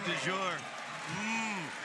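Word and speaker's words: Dajour: In fact, that's how it was told to us on how to pronounce his name.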